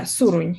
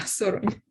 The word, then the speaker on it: Surun: it do I say it right the seron yeah surun yeah surun the surun are seem